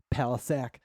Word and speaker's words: Palisac: Palisac. Um that's how I pronounce my last name.